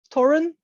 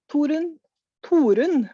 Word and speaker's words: Torunn: Torunn, Torunn, we would say, but I mean, no one can say that anyway. Because everyone pronounces it a different way. Well, but there is no English pronunciation of Torunn. Yeah. So, I don't expect people to speak Norwegian.